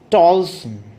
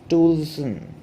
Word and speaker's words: Toulson: Now, let me tell you that we often pull the boners and we pronounce it as TOULSON. But is it so? Say I had remarked it is TOULSON.